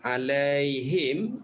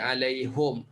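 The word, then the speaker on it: عليهم: bimbingan Allah kita ini alaihim dibaca alaihum Coba kita tahu K5 alaihim dalam ukuran mana-mana tempat kita pertama kali jumpa dengan Fatihah alaihim bacanya alaihum mana-mana tempat dalam Quran dibaca alaihum tagking enak Sambong kena wakaf ke tetap alaihum Oke betul hai oke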